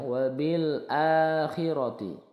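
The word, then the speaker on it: وَبِالْآخِرَةِ: ini coba dilihat ya hamzahnya itu letaknya di tengah-tengah lah ini alifnya jadi dibaca panjang wabil akhiroti akhiroti ini dibaca panjang dua harakat kalau panjang dua harakat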